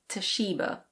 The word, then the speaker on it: Toshiba: In British English this is Toshiba. Toshiba.